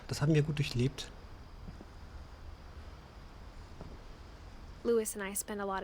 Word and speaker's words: Lewis: Wir waren jetzt im Zimmer von Lee, ich überlege, wie er, Lewis wird er, glaube ich, ausgesprochen. Ich hatte ja mal Levi's gesagt.